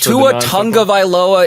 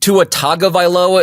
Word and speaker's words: Tua Tagovailoa: Tua Tagovailoa is how you should. Tua Tagovailoa is also acceptable. Tua Tagovailoa, whatever. Get in the continental sort of just zone of the name.